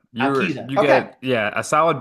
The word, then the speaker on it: Alquiza: Matt Alquiza? Close, Alquiza. Alquiza.